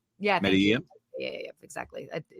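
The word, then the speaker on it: Medellín: Medellin. Yeah, Medellin. Yeah, exactly. 2 L's cancel out, whatever.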